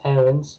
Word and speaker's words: Aarons: expect to call him max errands which is i think everybody um what everybody thought his name was until he was recently put on chase so it came out saying that he'd like to pronounce max aaron so the challenge is